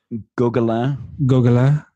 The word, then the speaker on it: Gauquelin: How do you pronounce the last name of is it Gauquelin? Gauquelin. Yeah, he's a Frenchman. I'll remember that this time. It's okay. Gauquelin.